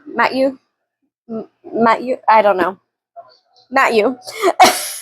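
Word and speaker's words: Mathieu: It's It's like Matthew, but it's M A T H I EU. So, it's like Matt Matthew Matthew Matthew.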